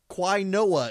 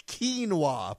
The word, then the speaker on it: quinoa: additions quinoa flour which Quine OA is how it's spelled but it's quinoa flour adds an earthy